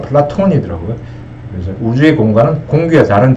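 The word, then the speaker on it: Πλάτων: 그래서 플라톤은 이게 영어로는 플라토고 실제 발음은 플라톤이더라고요.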